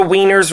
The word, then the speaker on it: Wiener: How do you pronounce it? Wiener.